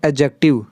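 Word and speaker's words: adjective: with correct एडजेक्टिव और एडजेक्टिव नहीं पढ़ते हैं एडजेक्टिव क्या पढ़ेंगे एडजेक्टिव दी यहां पे साइलेंट हो जाता है तो ध्यान रखेंगे प्रणाम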